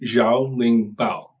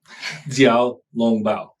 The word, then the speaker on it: 小笼包: I'm probably mispronouncing it, saying jiao ling bao. How do you actually pronounce it? 小笼包. Jiao long bao.